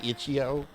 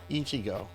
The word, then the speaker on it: Ichigo: Did I say Ichio? Ichigo. Ich. I think that's how you say it.